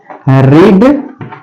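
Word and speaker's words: read: सी थ क्या है पढ़ना तो पढ़ना काथ रीड रेड रेड लिखेंगे तो ही लेकिन पढ़ेंगे उच्चारण के अनुसार अलग क्या है स्पे ही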